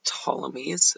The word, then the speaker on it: Ptolemies: first one is the ptolemies the P is silent so the Tommies they're